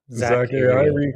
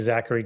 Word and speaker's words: Zachary: Zack Ari. That's how I pronounce it. Nice. I do enjoy calling you Zachary just because it bothers you so much.